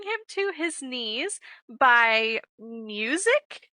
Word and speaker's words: MUSYC: Okay, so we are going to be reading Bring Him to His Knees by Music is how I'm pronouncing it.